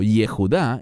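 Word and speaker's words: Yehudah: Y Judá o Jejudá en hebreo, así lo pronunciamos.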